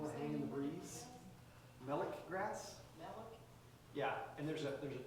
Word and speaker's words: melic: Melic grass. Yeah, and there's a 2-flower melic grass that's a more eastern species that just barely comes to like I-35 area. And then 3-flower melic grass is the western version of that that's